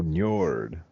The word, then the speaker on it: Njord: Ninor. Ninor. He's like the Poseidon, if you want to put it in basic. Oh, Njord. Bjorn, yes. Luckily you're more linguistic than I am because I cannot pronounce a lot of these things, man.